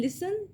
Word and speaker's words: listen: In listen, there is a silent letter is T.